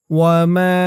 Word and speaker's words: وما: ওয়ামা, এখানে টান হবে বেশি, ৩ আলিফ টান।